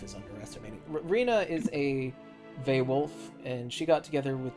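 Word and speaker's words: vaewlf: to look it up a vay wolf is spelled v AE W LF a wild thing I'm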